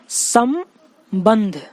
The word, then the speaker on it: संबंध: क्या हो रहा है यहाँ पे, संबंध, स के बाद म का प्रोनाउंस होता है, ठीक है। यानी पहला जो अनुस्वार लगा है, पहला जो बिंदु लगा है उसका अर्थ क्या है, म है, ठीक है। फिर दूसरा वाला ब पे जो लगा हुआ है उसके बाद हम प्रोनाउंस करेंगे तो संबंध, यानी ब के बाद न का प्रोनाउंस हो रहा है, यानी दूसरा वाला जो बिंदु है वो न बता रहा है, ठीक है।